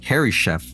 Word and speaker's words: Harishef: Harishef, you diabolical fiend. That's how you pronounce his name, Harry Chef.